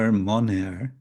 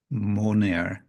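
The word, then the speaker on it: মনের: Now, in this transliteration, it's M-O, monera, which is indicating how it would be pronounced, because it's a short short A, and the word is mana, which means mind, and it's possessive, monera, it's of the mind.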